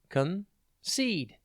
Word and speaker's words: concede: TV today's word is concede it's pronounced concede and it's spelled c o n c e d d e think con and then seed concede means to surrender give